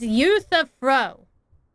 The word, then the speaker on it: Euthyphro: It's Euthyphro. If we were to place the 7 sages on the scales of Talanton, Anaxa and Euthyphro would be placed on opposite sides to achieve balance.